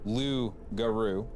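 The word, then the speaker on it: loup-garou: Maybe uh when the Acadians were exiled from France, they brought the legend of the Lugaroo pronounced Lugaru. I asked my mom how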